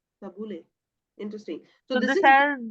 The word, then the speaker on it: Tabbouleh: Tabbouleh. Tabbouleh.